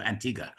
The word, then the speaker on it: Antigua: As you can see there, we got a little bit of celebrity help to pronounce the the the correct uh pronunciation for Antigga.